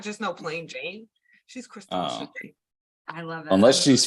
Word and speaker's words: Chrystall Jane: And we got Chrystall Jane in the house.